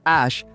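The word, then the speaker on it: Æ: At doon ko rin lang nalaman na Ash ang bigkas ng AE matapos kong mapanood si Elon Musk sa podcast ni Joe Rogan na ipinaliwanag niya ito.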